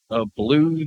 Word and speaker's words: Blou: And I've known a blue that was a BLOU. That they said was pronounced blue.